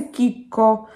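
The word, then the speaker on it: Chicco: товаров для детей кика я думаю что неправильное произношение этого бренда связано с тем что в школе мы чаще всего учили английский и нам прямо вдолбили в голову что сочетание букв си эйч произносится как чем и поэтому вот мы читаем по-английски да хотя на самом деле в итальянском стеречь и а и буква произносится какие вот поэтому бренд называется кика еще я часто слышу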